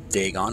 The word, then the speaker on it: Dagon: Dagon, obviously. It's spelled D-A-G-O-N in the game, and in brackets it's spelled D-A-G-A-N.